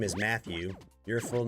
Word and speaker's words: Matthew: Do you think it's weird that Matthew has 2 T's in it? Nah, it's fine. I was thinking about that. I'm like, oh, that's weird. You don't like pronounce that other T at all. It's just Matthew.